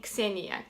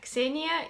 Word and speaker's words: Ksenia: Well, you pronounce my name Ksenia. Ksenia is how you pronounce it in Russian.